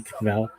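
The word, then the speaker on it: kvell: To swell with pride is chvel, and to torture is kveil. Now that's a factoid to make your bubby kvel, but not kveil, we hope.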